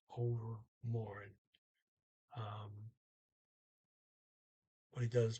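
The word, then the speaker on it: overmorgen: after tomorrow um and he does not pronounce the g he says over more um but he does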